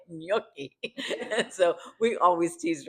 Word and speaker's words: gnocchi: In Italian we say gnocchi, and so we always teased her about that.